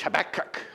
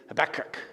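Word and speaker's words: Habakkuk: you get that nice little curl in the back of your throat as you say that double K right and and you can almost sound like you're Jewish habac right habac and and so habc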